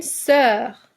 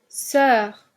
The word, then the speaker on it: sœur: oui voici les mots une sœur une sœur on va écrire oui ou bien non sœur oui on entend le son e ouvert une odeur une odeur